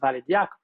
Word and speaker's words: ValidIaC: first open source tools called valid ic we pronounce it as valid this tool helps validate best practices for infrastructures